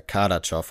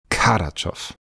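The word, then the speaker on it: Kardaschow: ihn jetzt richtig aus ich bin mir relativ sicher dass er Kadow ausgesprochen wird Kadow okay gut dann betone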